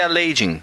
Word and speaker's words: Aladdin: A pronúncia certa é Aladdin.